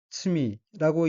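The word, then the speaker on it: 罪: 둘째 줄 첫 번째 어휘는 한자가 인간 세자와 가운데 중자가 들어있고 일본어로는 요노나카라고 읽으며 요노나카는 세상이란 뜻입니다. 다음 어휘는 한자가 허물 죄자이고 일본어로는 츠미라고 읽으며 츠미는 죄란 뜻입니다.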